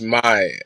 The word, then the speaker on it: MAI: Like, correct me if I'm wrong, but is it Mai? How do you say it? Yeah, it's my just MAI.